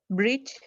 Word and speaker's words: bridge: And a lot of you are saying that it's a soft G rule because G is followed by E and it says the J sound.